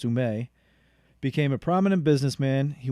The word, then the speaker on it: Ouimet: Francis Ouimet, or proper pronunciation, Francis Ouimet, became a prominent businessman.